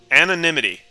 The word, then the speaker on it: anonymity: Anonymity. Okay, that's how you pronounce it.